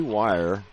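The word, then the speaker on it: Weir: the game for plymouth sydney wire where we're w-e-i-r it's one of those pronunciations as henching back on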